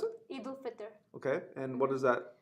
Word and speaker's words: Eid al-Fitr: hit them out of the park, No, it's Eid al-Fitr, yeah. How do you pronounce it? Eid al-Fitr.